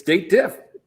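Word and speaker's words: DATEDIF: couple of years ago date diff is it or is it a dated if right it's date diff in my world but yeah so after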